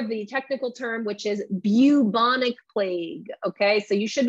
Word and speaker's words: bubonic: technical term which is bubonic plague okay so you should be pronouncing it the uh bu like as if there's a y after bubonic okay that is the